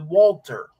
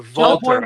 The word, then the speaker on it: Walter: who was known by known then as Walter or Valter as it's supposed to be pronounced about that.